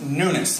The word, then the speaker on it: Nunes: um spanish surname so my last name is n-u-n-e-s pronounced newness like the newness of life we have in jesus christ